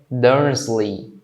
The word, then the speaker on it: Dursley: Dursley. Quando eu falo, tá? Termina com esse Y aqui, não é lei, tá? É li.